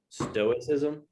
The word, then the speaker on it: stoicism: know what stoicism is stoicism you know what's that no definition you would yeah you wouldn't well you wouldn't pronounce the c but it derives from stoic so like so it